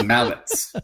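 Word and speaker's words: Malec: Thomas Malik, former first-round pick, who I think played a couple of games. Mallets is pronounced T-S. Thomas Mallets.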